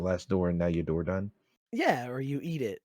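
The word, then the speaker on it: Dordogne: Dorgon. I said it wrong, didn't I? It's a beautiful Dorgon? game. It's It is like a beautiful game. Door done.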